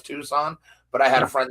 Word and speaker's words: Tucson: I know it's Tucson, but I had a friend that called it Tucson. Well, I told him it was Tucson. He was like, "What?" I was like, "Yeah, the C is silent, dude."